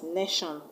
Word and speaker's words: nation: Is a name of a place, nation is a noun. So the stress will go to the first syllable n and not on the shan.